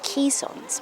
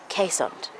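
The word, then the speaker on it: Keeshond: It's spelt K-E-E, so you may often hear people calling them caissons, but I'm assured it's definitely pronounced caissoned by the people that own them.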